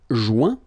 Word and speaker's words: joint: Joindre, joint. Rejoindre, rejoint. Okay? Same thing. Final T not pronounced. Joint. So when you get this O-I-N combination of letters, you get the sound ouin. Okay, joint, and then rejoint.